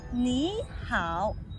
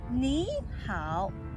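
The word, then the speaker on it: 你好: In the future, when you spot any two words on the third tone together, you should always pronounce the first word as the second tone.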